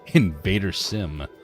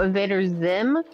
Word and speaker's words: Invader Zim: you thirsty for chicken Invader Sim Invader Sim I can't say I've heard before Oh Invader Zim Sim z i I mean Zim yep sorry I mispronounced it uh animated show from